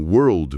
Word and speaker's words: world: Mas em world, mundo, a língua precisa fazer uma ginástica e ir até o céu da boca pro L antes de soltar o D.